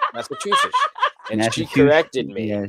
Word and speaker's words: Massachusetts: girl that I learned to I used to pronounce it two shits. Yeah. Massachusetts.